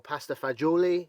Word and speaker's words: pasta fagioli: We call it pasta fagioli, or pasta fagioli, if you want to say it properly.